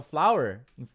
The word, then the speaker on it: flour: que é a curiosidade a pronúncia é igual tá flor é flower flower farinha também é flower tá como é que eu vou saber qual que é qual que é igual a pronúncia pelo contexto né se eu falar